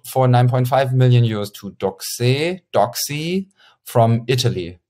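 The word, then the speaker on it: Doxee: 9.5 million euros to Doxy from Italy. Doxy, I pronounce it Doxy because I thought Italian and because it's written D-O-X-E-E.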